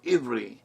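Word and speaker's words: עברי: today in modern Hebrew, Iberi. But it could also be pronounced Iberi or Iberi. In Hebrew, the same letter is used for both the V and the B sounds, and they can interchange.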